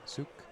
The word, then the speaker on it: Cuk: Usually pronounced the C sound, suk.